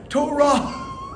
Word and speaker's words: Torah: for example, the word Torah is spelled with a hey at the end. We don't read it as Torah.